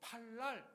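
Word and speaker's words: פלל: 기도하다 히브리어로 팔날 이렇게 발음을 하는데요.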